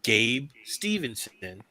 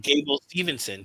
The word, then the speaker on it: Gable Stevenson: And then you have a setup for Gabe Stevenson, who've y'all been talking about. Mm-hmm. Gable Stevenson. I said the name wrong.